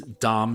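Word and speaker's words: Domme: number eight here is Dom spell d mme and this is just the feminized version of Dom so this refers to a female dominant and is pronounced the same that's really the one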